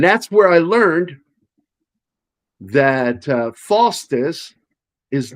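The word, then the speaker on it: Foster's: And that's where I learned that Faustus is not a beer that's drunk by anybody from Australia.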